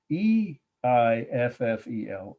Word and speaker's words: Eiffel: was in a minute e i f f e l eiffel that's how it's pronounced and of course i'm sure you all know the title the i will tower 1889.